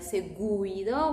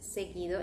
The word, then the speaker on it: seguido: So remember that you don't always read the U when the letter before is the G. Check out these examples, like seguido. Can you see the U is after the G, but we are not going to pronounce it like seguido. We say just seguido. In this case, U becomes silent.